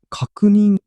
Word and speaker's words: 確認: ああ、これは確認と読みます。